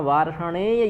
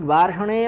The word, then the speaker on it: वार्ष्णेय: ठीक, वार्ष्णेय में कोई विसर्ग नहीं है, या का पूर्ण उच्चारण करना है।